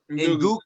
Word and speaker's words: Ndugu: Yeah, that's how you say it in Swahili. Yeah. You do go. Ndugu.